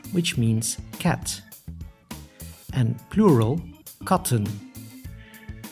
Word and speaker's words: katten: means cat and plural cotton the extra T is to stress that in plural the short sound a should be preserved the long sound is